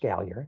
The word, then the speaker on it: Gallier: name to gallier and then perhaps Gallia is pronounced gallier okay and then they may move South they